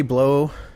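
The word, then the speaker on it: Blough: their names were patty blow i think that's how it's pronounced b-l-o-u-g-h rene bruhl and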